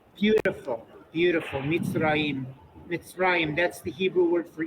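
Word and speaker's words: מצרים: this first syllable is closed by the tzadi and a shva. Meets. Rayim. Mitraim. Beautiful. Mitzrayim.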